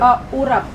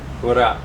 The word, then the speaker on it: urap: And how do you pronounce the other dish with the coconut and the green beans, the vegetable dish? Urap. Urap.